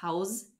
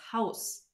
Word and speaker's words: Haus: And last but not least, the sound z becomes a sharp s at the end of a syllable or a word. So for example, das Haus, we don't say das Haus, we say das Haus.